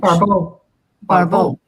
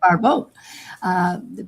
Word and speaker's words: Barbault: entire astrological community, what Andre Barbault, a French Barbault. Yeah, thank you. Right pronunciation. Barbault brought to general attention, and I think various